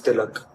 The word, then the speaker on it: tilak: It's known as tilak. What is it? Tilak. How do I pronounce?